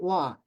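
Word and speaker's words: ה: And this little bar above that hey means usually the hey, which is like an H, at the end of a word is not pronounced. But here it is kind of like La, because you're extending it out.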